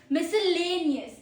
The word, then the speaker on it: miscellaneous: Pro tip, 5 syllables, stress on third. There are 5 syllables, third पे ज्यादा stress डालो।